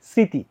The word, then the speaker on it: স্মৃতি: কিন্তু স্বাধীন ঠিক আছে কিন্তু তোমার এই যে স্মৃতি এটার মধ্যে কিন্তু ম ফলার উচ্চারণ হবে না ম ফলার উচ্চারণ হবে না ম ফলার উচ্চারণ হবে না কিন্তু একটা নাসিক্য ভাব ছেড়ে যাবে যার কারণে তোমার এই স এর উপর একটা চন্দ্রবিন্দু দিতে হবে তাইলে এটার উচ্চারণটা কি স্মৃতি একটা চন্দ্রবিন্দু দিতে হবে